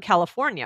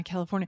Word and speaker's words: California: But do you feel like it sounds more like an like California? The I. Does it sound more California. Like an when you say it, or an I? California. Do you say California or California? Okay. Because California. California. Okay. California. You know what? I think you could say either one.